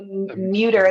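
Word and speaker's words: Mütter: The Muter. It's spelled M-U with the oblong above it.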